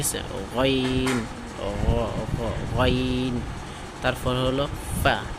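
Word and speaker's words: ف: তারপর হলো ফা ফা। আমরা এটা জানি 14 নম্বর মাখরাজ পড়ে আমাদের, যে নিচের ঠোঁটের ফ্যাট সামনের উপরে দুই দাঁতের আগার সঙ্গে লাগাইয়া ফা ফা ফা ফা।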